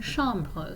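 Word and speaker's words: chambre: I said not shamb is pronounced the same whether it has an S on it or not but not would indicate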